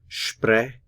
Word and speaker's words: sprechen: This little dot indicates that we stress the first syllable here. So sprechen, sprechen, sprechen.